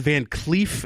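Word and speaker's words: Van Clief: I believe it's Ron Van Cleef is how it's pronounced.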